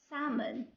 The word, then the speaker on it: salmon: Most of the time the letter L pronounced, but we have some exceptions, some words that the letter L is silent.